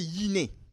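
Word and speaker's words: γυνή: Parce que le terme là, en grec, c'est prononcé yiné.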